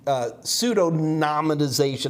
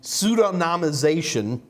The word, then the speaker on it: pseudonymization: people can get and that's where pseudo pseudorandomization pseudonominization i can never pronounce this word in fact this may be the first time i've actually pronounced it out loud in my entire life pseudonymization uh there is some way to get back